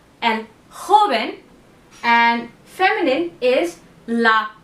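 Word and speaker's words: joven: them out but again J is huh okay it's the heavy H sound so it's and haben and feminine is LA haben okay so these words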